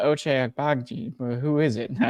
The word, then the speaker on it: Agbaji: Agbashi. It's funny because you pronounced it right, but it was just the way With it no came out was confidence. funny. Yeah, you said it right and gave up on yourself halfway through.